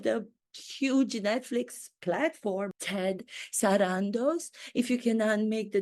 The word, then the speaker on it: Sarandos: and see my authenticity does anybody else pronounce your last name sarandos I don't believe so I think they pronounce it Sandos I pronounce it the way it's meant to be pronounced authentically sarandos as it spelled phonetically that's what I have